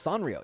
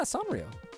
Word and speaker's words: Sanrio: Is that how you pro province pronounce Sanreo? Yeah, Sanrio. I believe that's how you say it.